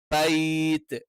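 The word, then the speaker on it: بَيْت: ബൈത്ത് അത് ബേ ആയി പോകരുത്. ഇത് ഫതഹിന് ശേഷം യാ വരുന്ന സ്ഥലത്തൊക്കെ ഉണ്ടാവുന്ന ഒരു ബുദ്ധിമുട്ടാണ് എന്ത് ചെയ്യുന്നത്? ഒന്ന് അതിന്റെ ബ എന്നുള്ള അകാരത്തിന്റെ ഉച്ചാരണം ഒന്ന് ചെരിഞ്ഞു പോകാൻ ചാൻസ് ഉണ്ട്. അതൊന്നും വരുത്തരുത്. ഫല്യഅ്ബുദൂ റബ്ബ ഹാദൽ ബൈത്ത്.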